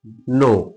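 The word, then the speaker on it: know: देखिए के साइलेंट कब रहता है? एन से पहले आया के साइलेंट रहता है। जैसे नो के एन ओ डब्ल्यू नो नो means क्या होता है? जानना क्या होता है? जानना है ना? और इसमें क्या है? ये साइलेंट है।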